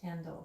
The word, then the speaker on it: Hendel: it's pronounced Hendel.